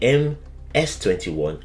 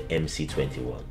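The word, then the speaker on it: МС-21: In Russia, it is actually M S21 as C is pronounced as S in the Russian alphabet, but I will stick with calling it the MC21.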